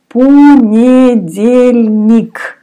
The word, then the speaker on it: понедельник: Понедельник. Понедельник. Letter O you pronounce like A. Понедельник.